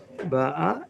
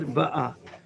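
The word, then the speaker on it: באה: So you took the same verb, which was conjugating, you pronounced it different ways. You said ba'a, and he said ba'a. Are you right? Are you right? The answer is you're both right.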